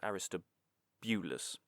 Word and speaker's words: Aristobulus: her brother aristobulus although we've gone for aristobulus again pronunciations of names changing vowels occasionally the aristois didn't quite sound right and I didn't like it so iang the weird